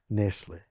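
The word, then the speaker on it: Nestlé: we wasted 12 months of our lives with nesle is that how you say it Nestle that's how I say it yeah Nestle anyway they had Engineers Consultants coming every week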